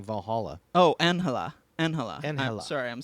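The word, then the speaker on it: Ángela: i mean yeah in in spanish the g is pronounced with an h sound right right correct so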